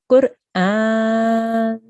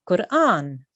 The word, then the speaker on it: Qur'an: You really need to try and pronounce the ra there. Okay, so this is what we have come to learn today. Qur'an.